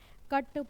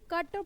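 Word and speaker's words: cut: अब देखिए यहाँ पर आप देख रहे होंगे कि कट पुट बोल दोनों में बीच में जो आप देख रहे हैं कि बीच में बिल्कुल यू है, लेकिन मैं यहाँ इसको कट पढ़ रही हूँ, यहाँ मैं पुट, तो पुट ही पढ़ना चाहिए ना। अगर मैं इसको पुट पढ़ रही हूँ तो उसको कुट पढ़ना चाहिए, लेकिन ऐसा नहीं हो रहा।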